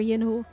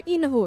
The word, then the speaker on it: Yinu: Senior Yinu or Senior Inu, excuse me. You don't pronounce the Y. We learned that today.